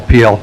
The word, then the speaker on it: Peel: Peel, or Pale. Lee. Good afternoon. Thank you for pronouncing that correctly. It is Peel.